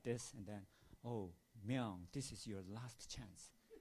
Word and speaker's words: Myung: And Barbara Jordan, she pronounced my name like Mung, not Myung.